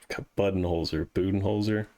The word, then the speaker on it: Budenholzer: It's Budenholzer. I think it is Buden, yeah.